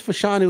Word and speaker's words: Fashanu: uh we've got olaia fashanu I know it's fashanu with the last name I I think I butchered the first name but offensive tackle from